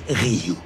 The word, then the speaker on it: Ryuk: E petit, ça se prononce Ryuk.